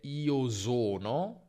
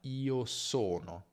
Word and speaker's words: sono: Quindi attenzione a non dire io sono, che è un errore tipico che fa chi parla tedesco, ma io sono, io sono.